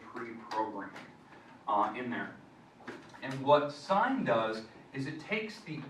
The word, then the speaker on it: sine: But the sine function on your calculator, the button, it looks like this. Everyone pronounces it sin, but it's sine.